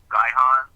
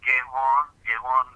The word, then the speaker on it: Gihon: I'm dealing with the word Gehon, Gihon, but Gehon would be a more correct pronunciation of it, based on original.